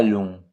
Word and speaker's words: long: Ce tapis n'est pas long. Tapis, silent S. Né, silent S and T. Pas, silent S. Long, silent G.